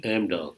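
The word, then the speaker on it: Amdahl: it correctly is it AMDal Amdal Corporation AMDall AMDall and were were they a subsidy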